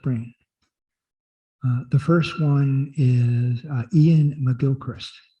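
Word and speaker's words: Iain: The first one is Ian Mcgilchrist. Ian is spelled I-A-I-N, 2 I's, Mcgilchrist.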